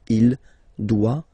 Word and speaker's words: doit: Final T not pronounced. Il doit, elle doit.